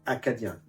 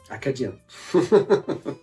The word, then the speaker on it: Acadien: And this one reason why they call Cajuns, so Cajun in French, is because it's a mispronunciation of Acadien. Acadien.